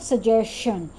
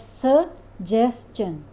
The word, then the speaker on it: suggestion: So it is not suggestion. Again, sh sound is not there in suggestion. It's neither in question nor in suggestion. So we have to pronounce it as suggestion, suggestion, suggested.